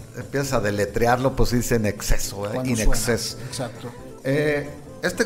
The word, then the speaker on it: INXS: Sí, ya ves que lo escriben como INXS. Es que si tú las pronuncias, sí, eso es In Excess. In Excess, así in es. Exceso.